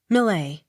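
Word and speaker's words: Millais: Millet. Accent on first syllable.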